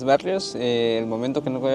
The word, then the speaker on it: Barrios: Barrios, se escribe, se escribe con, Barrios es con B-A-R-R-I-O-S.